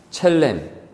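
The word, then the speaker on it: צלם: 히브리어 원어로 이 형상은 첼렘 또는 셀렘이라고 이렇게 발음을 하는데 이는 모습의 모양이 아니라 그 성향, 그 인격성을 우리가 부여받았다라는 거예요.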